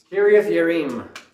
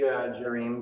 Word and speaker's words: Kiriath Jearim: Kiriath Yearim. So it'd be, in English, it'd be Jerim, but in Hebrew, you don't pronounce it as a J. It'd be a yeah.